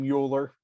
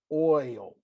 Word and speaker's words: Euler: please don't call him mueller euler it's pronounced oil okay remember from calc